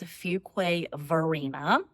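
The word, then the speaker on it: Fuquay-Varina: It is Fugquay. Verina.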